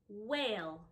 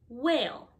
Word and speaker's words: whale: the next one is whale the h is silent whale otter the two t's